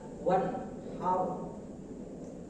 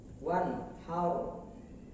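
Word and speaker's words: وانحر: Apabila ro sukun oleh fathah ataupun dhamma, maka suaranya tebal atau tafhim. Ro sukun oleh fathah atau dhamma, suaranya tebal atau tafhim. Wanhar, mulut yang bawah sedikit naik ke atas. Wanhar, bukan wanhar, tapi yang benar adalah wanhar. Baik, berikutnya yang harus kita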